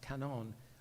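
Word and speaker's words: 観音: And then in Japan, uh, canon, it's pronounced canon.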